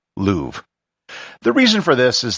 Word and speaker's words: Louvre: be pronounced musee de luvra however that is not how i'm going to pronounce it for the rest of this episode i'll be using the most standard english pronunciation of the museum louvre the reason for this